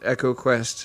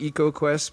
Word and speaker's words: EcoQuest: we we didn't mention echo quest which is probably pronounced eco quest but i don't like saying it like that um you don't think that's a great game and the other way around i i instinctively call it ecoquest but yeah me too